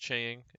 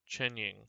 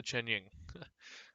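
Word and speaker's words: Chengying: baron and then the chang is it pronounced chang it is chanying okay the chen ying that is it for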